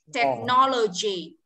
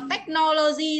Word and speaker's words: technology: Rồi tiếp này trọng âm rơi từ no này. Technology. Technology. G cong môi lên ạ. G. Technology. Technology. Chứ không đọc là technology đâu nhá.